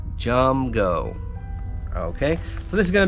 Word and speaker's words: Jumgo: All right, that's spelled just like that, Jumgo.